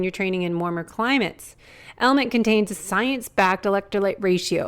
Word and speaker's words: LMNT: of our sponsors LMN element it's spelled lmnt but pronounced element if you haven't heard